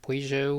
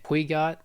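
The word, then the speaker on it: Peugeot: And you got Pujo, which back then I used to pronounce it pouot until I started watching these races, which the reason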